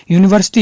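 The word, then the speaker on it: university: यूनिवर्सिटी यू से start होता है, जो कि एक ये कॉन्सोनेंट साउंड है, वोवल साउंड होती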